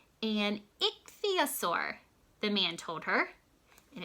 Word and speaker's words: ichthyosaur: "It is called an ichthyosaur," the man told her.